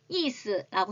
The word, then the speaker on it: 意思: 중국은 이스라고 합니다. 한자 좀 많이 아시는 분들은 그대로 의사라고 읽습니다.